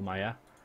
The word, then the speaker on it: Myr: I think it's pronounced Maya in Game of Thrones. But I think it's one of those things which can be pronounced Myr or Maya.